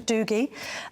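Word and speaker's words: Dougie: we've never heard of dooie dooie in the Scot so he takes the Scottish pronunciation Doogie I mean do you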